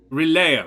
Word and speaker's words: Relayer: my own self uh not Nicodemus reeler is um um relayer rather that's relayer is how it's pronounced um uh isn't that